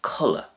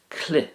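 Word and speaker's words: culaith: In Irish, a costume is culla. Culla. Now that could also be pronounced cli as well. Cli, but culla is probably more widely used.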